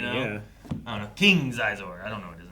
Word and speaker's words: Xizor: Xizor might be his first name. I don't know how it And I have no idea how to pronounce it. Some people call it She-zor.